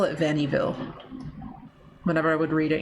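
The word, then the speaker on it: Vaniville: Bon V. Like, that's, I mean, that's the French pronunciation. Every time I look at it, though, I want to call it Vannyville.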